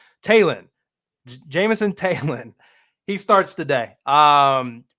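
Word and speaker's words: Taillon: they pitch Jameson tailon Talen always had an issue pronouncing that so I made a note I always want to call him talion or t Tayon like he's like I don't know what would that be French or something taen Jameson Talen he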